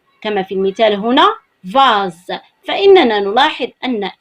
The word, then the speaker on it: vase: إذن عندما نجد الحرف S مع الحرف E ومسبوقا بحرف متحرك آخر كما هو الحال هنا في هذا المثال فإننا نقرأه أو ننطقه زاد كما هو الحال في المثال الذي هو أمامنا. فنقرأ هنا vase. vase.